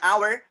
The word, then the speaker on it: hour: if you see here an hour the sound is coming and ah where and ah where and